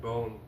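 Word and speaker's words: Bohn: Something I still have to make up for with Maverick Bone. Not Bone, Bon. I can't remember how to pronounce his name. B-O-H-N.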